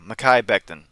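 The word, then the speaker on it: Mekhi Becton: Mai Beckton.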